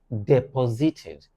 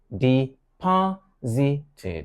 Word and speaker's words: deposited: Acquired is the word to replace, gained, induced, deposited, not deposited, but deposited with a stress on the second syllable or embezzled.